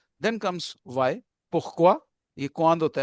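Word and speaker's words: pourquoi: सा अधा प्रोनंसिएट करें क्वांद देन कम्स वाई पुख्वा यह क्वांद होता है व्हाई व्हेन और पुख्वा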